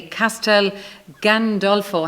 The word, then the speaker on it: Castel Gandolfo: be here to talk about your new play Castel Gandolfo have I pronounced it correctly right yes yes there'll be